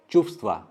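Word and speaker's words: чувства: यहाँ पे आप व कभी भी होल प्रोनाउंस नहीं कर पाएंगे, तो सिर्फ एक हवा निकलेगा, चुप्stva।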